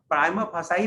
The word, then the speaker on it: prima facie: prima facie indication that प्राइमा फासाई भी बोल सकते हैं, प्राइमा फेसी भी बोलता है, हाँ दोनों बोलता है।